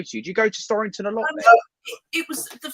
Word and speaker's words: Storrington: I went to, how do you pronounce that, Neil? Storrington? It's Storrington, right?